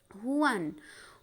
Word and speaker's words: Juan: তোমরা আমার সাথে প্রোনাউন্সিয়েশন করো, হুয়ান।